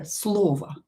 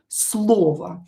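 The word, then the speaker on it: слова: And same here, slova. Slova. When o is stressed, we pronounce it as o, we're not allowed to change it, but not stressed, we pronounce it as a, slova.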